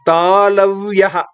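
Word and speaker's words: तालव्यः: Talavyaha. T, A, L, A. V, Y, A. Followed by Visarga. Talavyaha.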